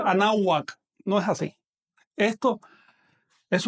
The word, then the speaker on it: Anáhuac: ven de esta palabra, que es así, anáhuac, anáhuac, no refleja realmente el sonido de la lengua. Con esto entramos ya en materia, el tema de las ortografías. Así que no es anáhuac, sino anáhuac.